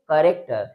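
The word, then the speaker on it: character: तो वहां पर सी एच च का साउंड नहीं देता है। बल्कि क का साउंड देता है। याद रखिएगा। ठीक है? अर्थात ऐसे कह सकते हैं कि यहां पर एच लेटर साइलेंट है। तो सी एच ए आर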